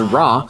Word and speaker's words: RWR: the radar warning receiver often shortened to rwr and pronounced as raw in your favorite dcs